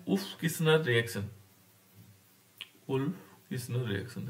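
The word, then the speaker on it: Wolff: उल्फ किस्नर reaction है ना, उल्फ बोलते हैं, लेकिन यहाँ पर एल क्या होगा? साइलेंट होगा।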